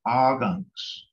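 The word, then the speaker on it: akvks: And that's indicated by the letters A, K, V, and K, S, and it's pronounced Agunks. Agunks.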